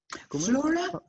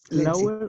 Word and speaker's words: flora: Flora? Flower and? No, it's not flower, it's flora. Flora. Let's see, the pronunciation is like flora and fauna.